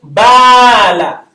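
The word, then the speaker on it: بال: So this E sound, just like the ba, the A is elongating, the alif is elongating the A sound. Ba. So I can say bala. Bala.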